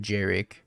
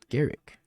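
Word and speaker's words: Garruk: Well, if it was me at Hunter Burton, I said Jarek. Apparently like an idiot, so Garrick.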